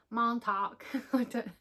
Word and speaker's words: Montauk: Montauk.